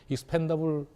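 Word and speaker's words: expandable: 익스펜디드라고 발음하면 안 됩니다. 익스펜더블입니다. 이거는. 왜냐하면 발포가 돼서 나간 게 아니라 발포할 수 있게끔 속에 들어가서 나가기 때문에 익스펜더블 폴리스타이렌입니다. 만들면 익스펜더블 폴리스타이렌이 되죠.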